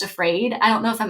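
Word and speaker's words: AFRAD: And I'm like, that's perfect because it's pronounced afraid.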